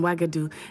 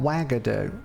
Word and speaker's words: Uagadou: Interesting way to pronounce a U, but I like it. Okay, thank you for telling me about Uagadou.